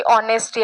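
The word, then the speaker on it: honesty: वापरत असताना कुठलं बघायचं एच हा बऱ्याचदा सायलेंट असतो म्हणजे स्पेलिंग तर एचने होते पण जसं की ऑनेस्टी आहे या पद्धतीने जे स्पेलिंग आहे ते तर कॉन्सोनंटने स्टार्ट होतात पण त्याचा जो उच्चार उार आहे किंवा त्याच जे प्रोनन्सिएशन आहे ते मात्र ओएल सारखं होतं ओ मधल्या ओल सारख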